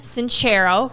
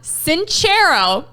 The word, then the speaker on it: Sincero: one the only jen sincero who we have been saying her name wrong forever so we apologize jen john cinchero and jen says everybody